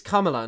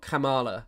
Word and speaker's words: Kamala: It always tickles me when people pronounce her name as if she's like the koala Pokémon. Kamala. Kamala. I think it's cuz it's Kamala, not Camala.